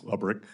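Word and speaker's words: Lebryk: Am I pronouncing his name correctly? I believe it's Lebrick.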